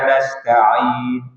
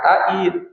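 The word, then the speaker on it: نستعين: sudah seperti itu pengucapannya iyaka na'budu wa iyaka nastain bukan taain Tain maka Ay orang gut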